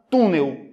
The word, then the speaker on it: túnel: duas quantas sílabas duas se eu for vender a palavra Olha o túnel Eu demoro mais tempo onde no tu ela é oxítona ou é paroxítona paroxítona porque ela não demora mais tempo na sílaba na última sílaba demora mais tempo na penúltima sílaba sensacional galera estão entendendo